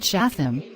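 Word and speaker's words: שׂטם: Plus, the name Satan is equivalent to the name Satan pronounced Shatham, which is H7852 in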